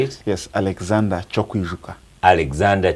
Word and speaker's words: Kyokwijuka: Yes, Alexander Kyokwijuka. Alexander Kyokwijuka.